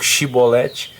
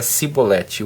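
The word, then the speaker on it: shibboleth: vão pedindo para que ele pronunciasse correnteza em tempo de cheia ou shiboleth mas devido a sua seu dialeto a pronúncia sempre saía cipoletti O que fazer com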